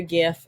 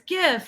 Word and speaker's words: GIF: it's GIF and um the Creator says GIF but the creator also named it with the first word the G stands for graphic so like why would that be a soft G instead of a hard G if it's graphic it's